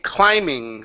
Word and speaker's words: climbing: this this T clim climbing so the B is silent climbing up toward toward climb up toward there you go so no B don't pronounce the b in climbing okay this B here